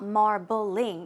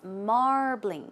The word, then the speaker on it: marbling: meat right so marbling keep in mind it's two syllables it's not marbling it's marbling marbling once again marbling good job and a